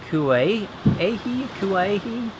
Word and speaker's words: Kauehi: at to of I I think it's pronounced kuay a kui something like that uh is behind me